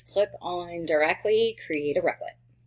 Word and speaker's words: Replit: So what we're going to do first is click on directly create a Replit. A REPL. That's how you say it.